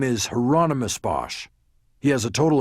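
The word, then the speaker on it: Hieronymus: You said heronomous Bosch, like the painter. The second question confused him. I don't know anything about any painter, but that's his name. Rhymes with anonymous, I was told.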